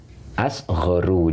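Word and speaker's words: أصغر: Nah, maka ini dibaca asghoru. Jadi ngikuti pola ini.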